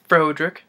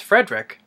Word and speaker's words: Frederick: Frankenstein and the marty Feldman as I gore frank enstein you putting me on no it's pronounced Frankenstein what does the press protes rhoderick no it's Frederick I see here USP Igor nice pronounced I